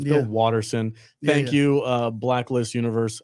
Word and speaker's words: Watterson: I messed this up it's not Bill Patterson it's Bill Watterson thank you uh Blacklist